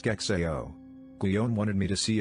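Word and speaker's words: SCExAO: The apparatus is called, brace yourself, the Subaru Coronagraphic Extreme Adaptive Optics, SIGZAO, pronounced SKEXAO.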